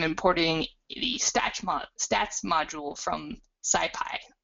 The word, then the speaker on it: SciPy: And then I'm importing the stats module from SciPy, which you'll also occasionally hear pronounced Skippy, which always makes me laugh.